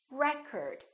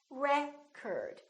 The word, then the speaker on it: record: another word this word if it's a noun it's pronounced as record the first syllable is stressed record this o changes so